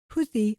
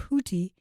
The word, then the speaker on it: Houthis: and declared war the houthis have declared war or I pronounced it houi or houti I've heard it both ways yeah so that group